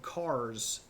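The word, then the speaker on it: Kars: So, one of the first capitals uh of the begruded Armenians is this place called Cars. It's spelled with a K, K R S. Uh, K A R S.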